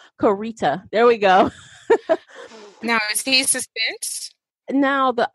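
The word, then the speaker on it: Koryta: wrote fourteen books under Michael Cory ohta or Michael core Co Rita I'm sorry he actually has a phonetic pronunciation of his name Co Rita there we go now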